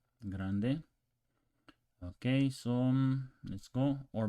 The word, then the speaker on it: grande: as a game G Grande actually roll that r on Grande Grande okay so let's go